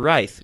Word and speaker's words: Writhe: today we have Chris Johnson from the band right Chris how you doing a pretty good how's